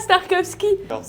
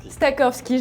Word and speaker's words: Stakowski: Venez, je vous emmène voir Thomas Starkowski. Stakowski, je l'ai mal prononcé.